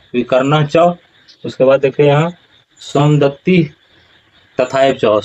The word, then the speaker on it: सोमदत्ति: यहाँ पर लोग उच्चारण करते हैं क्या, सोमदत्तिस तथैव च, ऐसा उच्चारण नहीं होगा। उच्चारण क्या होगा, यहाँ पर देख लीजिए सोमदत्ति जोड़ तथा जोड़ एव, सोमदत्ति तथा एव च, सोमदत्ति तथा एव च,